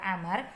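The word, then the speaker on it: عمرو: Ibnu Amrin Ibnu Amar Jadi kalau ada Wow kali pada kalimat inro ini kemudian Wow itu bacanya adalah Amar sementara jika tidak ada uangnya ini maka dibaca dengan Umar Amar Ibnu Aziz Ayu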